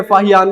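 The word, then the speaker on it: Faxian: इसकी प्रोनाउंसिएशन आपको अलग अलग देखने को मिल सकती है, फाक्शियन भी बोला जाता है, ठीक है, फाहियान भी बोला जाता है इन हिंदी, लेकिन फाशियन इसकी जो प्रोनाउंसिएशन है वो कुछ हद तक हमें करेक्ट देखने को मिलती है कई सोर्सेस में।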